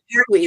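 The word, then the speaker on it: Malpertuis: Yeah, that's so she's guided me toward quite a few decks that I wouldn't know otherwise, and the Malpertius. No, how do you say that? Malpertwee.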